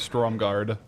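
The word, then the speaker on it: Stormgarde: What I'll do is I'll go back through the back of Storm Guard. Uh, and oh, actually it's Stormguard, not Storm Guard.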